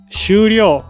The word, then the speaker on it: 終了: もありませんこの感じは何と呼びますかその感じは終了と読みますなんという意味